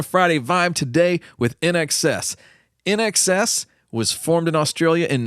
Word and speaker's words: INXS: in excess man INXS you pronounce it in excess that's Innovative as but